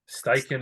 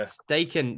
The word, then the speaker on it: Steichen: say his name yet is it Shane steigen steichen is correct yeah stake in the new head coach